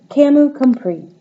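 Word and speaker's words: Camus Comprix: Grand Prix that's it Camu compri silent s silent x a name that holds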